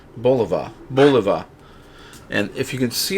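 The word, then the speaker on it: Bulova: But this is, I believe it's pronounced Boliva.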